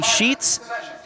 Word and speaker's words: Sheets: to think about Courtney Sheets it's sheets as in cookie sheets that's her nickname cookie